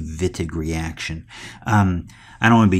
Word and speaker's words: Wittig: the vidiq reaction now I know in English vidiq seems like a be pronounced Wittig but the fact is it's a German scientist to develop this chemistry so we're going to call this the vit agree action I don't want